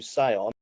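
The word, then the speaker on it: Siôn: So Gareth's full name is, my eldest is Gareth Sean Jones, but we spell Sean Sion. Right. So everybody calls him Sion.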